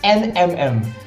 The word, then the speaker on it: NMM: It's NMM actually. NMM. Yep. Three alphabets. NMM. That's all it takes. Just like that into the drafting phase. So it's like M&M but NMM.